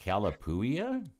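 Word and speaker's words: Calapooia: Oh, it's it's it's C A L A P O O I A. And I'm like, Calapouia.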